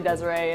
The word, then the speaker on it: Desiree: Like, Dez always gets, because everyone pronounces Dez's name wrong all the time. And because it's an interesting spelling, and so everyone likes to joke around and call her to Sarah, but it's really Desiree.